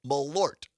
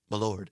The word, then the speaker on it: Malort: I had never heard of Malort. I I told Parker during the break it sounds like a medieval woman saying Malort. Malort.